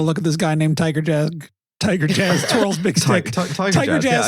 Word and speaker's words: Tygarjas: at this guy named Tiger Jazz Twirl's big stick. Tiger Jazz spelled, of course. Tiger Jazz is spelled TYGARJAS. Tiger Jazz.